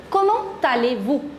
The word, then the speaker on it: comment allez-vous: Comment allez-vous? Listen to the correct pronunciation.